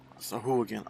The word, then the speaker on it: Sahuagin: Sahuagin.